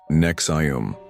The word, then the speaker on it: NXIVM: In the 1990s, Ranier founded Nex IVM, pronounced Nexum.